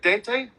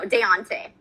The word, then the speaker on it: Deontay: How do you say it? Dante? No, Deontay. Deontay.